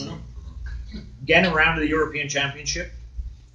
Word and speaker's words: Brno: It's spelled B-R-N-O, pronounced Bruno.